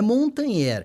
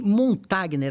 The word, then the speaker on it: Montagner: né montanher ou montagner Olha é montanher é que montagner é da forma que você lê né então fica mais